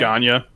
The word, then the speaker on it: Ganya: Ganya. Ganya. Spelled like ganja. It's spelled like Ganya. Right. Like ganja, dude. Okay, cool.